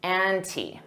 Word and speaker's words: ante: to up the ante notice that pronunciation an T anti and you can pronounce the as the with a long e because anti starts with a vowel native speakers don't always